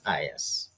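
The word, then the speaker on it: IaaS: this is called as I AAS it is pronounced as is okay so Microsoft will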